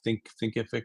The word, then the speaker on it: Thinkific: Thinkific is how you say it.